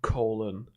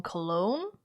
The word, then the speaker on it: cologne: Home Alone Colon after shave on IMDb. You mean Home Alone Cologne? No. Colon. Colon. Excuse me. Colon as in Colon. The intestine. No. Am I saying it wrong? It's cologne. No, no, no, no, no.